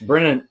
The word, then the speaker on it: Brennan: It's Brennan.